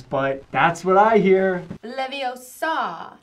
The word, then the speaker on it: Leviosa: Besides, you're saying it wrong. It's eye out. It's saying it all wrong. It's Leviosa, not Leviosa.